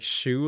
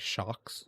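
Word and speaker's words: choux: Like it's crazy because I know like shu like c h o u x is pronounced shu and not like shocks shooks.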